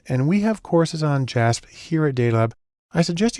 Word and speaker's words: JASP: It's actually pronounced JASP, which is sort of an open source version of SPSS.